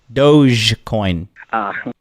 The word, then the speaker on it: Dogecoin: you're not even pr you're not even pronouncing the coin correctly it's dog dogecoin okay secondly it is a